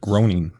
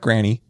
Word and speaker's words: Groening: I know how it's spelled too, but you pronounce it Groening. Groening. No, not Granny. Groening.